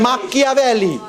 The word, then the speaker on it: Machiavelli: But machinations is an Italian word from Machiavelli. C-H-I is pronounced chi in Italian, Machiavelli.